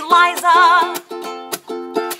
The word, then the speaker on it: Liza: It's Liza with a Z, not Lisa with an S, cause Lisa with an S goes snuts. Z instead of S, Lee instead of Lie, simple as can be, see Liza.